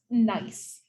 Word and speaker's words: gneiss: This is pronounced gneiss.